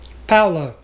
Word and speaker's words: Paolo: It's pronounced Paolo.